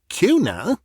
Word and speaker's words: Cuénin: It seems Lady Gwyn rechristened her Cunier, because she said the English pronunciation of Cunier grated on her ear. People would insist upon adding a G after the N.